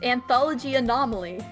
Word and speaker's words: Anthology Anomaly: It's anthology anomaly. Anth Oh, no. I'm sorry. You always try to put more syllables in the second part.